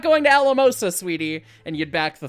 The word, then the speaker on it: Alamosa: So anyways, and it's 4 syllables, so Alamosa, 1, 2, 3, 4, chuff, chuff, chuff, chuff.